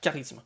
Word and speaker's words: charisme: Mais vous avez des mots, en fait, comme charisme, où en fait, on ne prononce pas charisme, mais on dit K, donc le CH devient un K, charisme.